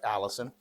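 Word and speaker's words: allicin: It's not spelled like Allison, but it sounds like Allison.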